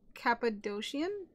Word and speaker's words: Cappadocian: Coolimp, I was to play a female Cappadocian? Is that how you pronounce that?